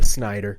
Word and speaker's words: Snyder: That would be Bill Schneider. Bill Schneider. Bill Snyder. Bill Schneider. That's how you say his name, right? Uh, no. Snider.